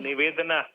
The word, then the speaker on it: Nivedhana: If I am not wrong, your name is, I am pronouncing correct? Hello? Absolutely. Nivedhana.